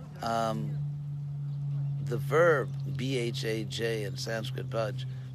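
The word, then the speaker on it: भज्: The verb bhaj in Sanskrit bhaj, pronounced just like the English word to budge, as in to move.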